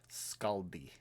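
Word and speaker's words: Skadi: Scaldi So, it's spelled S K A D I, but it's Norse spelling, so it's pronounced S S K A L D I.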